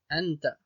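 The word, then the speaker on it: أنت: Donc a avec le noun avec le soukoun, qu'on ne prononce pas tout seul, on le prononce avec la lettre précédente. Donc an, an. Et là donc on va pouvoir lire les trois mots suivants. Donc a, an et ta. Anta, anta.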